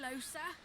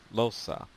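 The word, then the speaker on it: Lohse: Hi, Losa. Are you a sorcerer too? Losa. Okay, now I know how to say her name instead of Los, even though it should be with an A.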